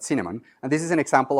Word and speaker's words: Cinnamon: That's a short name for that, and we pronounce that Cinnamon.